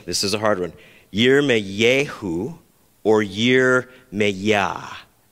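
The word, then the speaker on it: ירמיהו: is a hard one year may yehu or year me that's how you would pronounce it in hebrew with a new mexican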